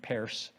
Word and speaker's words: Peirce: Channon, who imbued our Unitarian faith in the innate goodness of humanity, and the pragmatists like Charles Peirce, who pronounced his name Peirce, the professor and inventor of modern statistics.